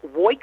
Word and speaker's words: Woik: And how I say that is I wake all day and I wake all night.